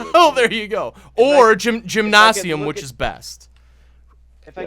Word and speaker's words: Gymnasium: It's a hard G.